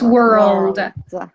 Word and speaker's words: world: World, and it's world. We have to pronounce L.